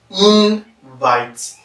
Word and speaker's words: invite: When you look at the word invite, it's a noun because in is stressed and vite is subordinated.